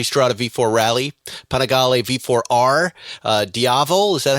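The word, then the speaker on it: Diavel: V4 SP2 multi V4 rally panagal v4r uh diavo is that how you pronounce it V4 yes monster SP Scrambler night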